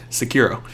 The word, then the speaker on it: Sekiro: How do you pronounce it? Sicario? That's a movie. Sekiro.